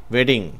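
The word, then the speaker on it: wedding: சொன்னால் திருமணம் என்று பொருள் இங்க ரெண்டு டி வந்திருக்குன்றது அதை அழுத்தி வெட்டிங்னு உச்சரிக்க கூடாது எப்பயுமே ஆங்கிலத்துல இந்த மெய்யெழுத்துக்கள் ரெண்டா ரெண்டும் ஒன்னா சேர்ந்து வந்தா அதை ஒரே எழுத்து போல தான் உச்சரிக்கணும் consonant letters double consonant letters வந்து நம்ம ஒரே ஒரு சிங்கிள் கான்சனன்ட் மாதிரிதான் உச்சரிக்கணும் அதனால அதை நம்ம வெட்டிங் அப்படின்னு சொல்லி சொல்லணுமே ஒழிய வெட்டிங் அப்படின்னு அழுத்தி உச்சரிக்க தேவையில்லை அடுத்த வார்த்தை பெர்ஃபெக்ட் பெர்ஃபெக்ட்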